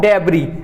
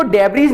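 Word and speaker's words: debris: चल रहा था, ऑफ डेब्री, इसको डेब्रीज नहीं पढ़ते हम, इसको हम क्या पढ़ते हैं, डेब्री, इस यहां पर ये एस साइलेंट होता है, इसको क्या पढ़ते हैं,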